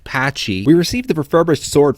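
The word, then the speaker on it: Pacci: Upon securing the fire element in this dungeon, alongside its horrifyingly named item, the cane of Patchy Patchy, it's pronounced Patchy, we receive the refurbished sword from the blacksmith, and we're off to fuse it with the elements ourselves.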